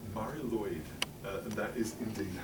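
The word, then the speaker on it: Mari Lwyd: So, Mari Luid is how it's pronounced. It's almost like Mari Lloyd.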